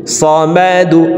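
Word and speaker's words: ٱلصَّمَدُ: মিম জবর মা, দাল পেশ দু, সমাদু। দালকে ওয়াকফের ক্ষেত্রে সাকিন করে ফেলবো, সমাদে, সমাদে। দাল যেহেতু কলকলার হরফ, নিচের দিকে ধাবিত করে ধাক্কা দিয়ে সাকিন করব, সমাদে।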